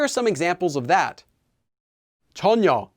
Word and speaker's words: 전혀: some examples of that chonyo is pronounced closer to tonyo not chanyo ure is pronounced as ure